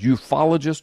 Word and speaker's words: ufologist: follow gist I yeah I've heard it pronounced both ways ufologist or UF ologist I mean bigwigs who've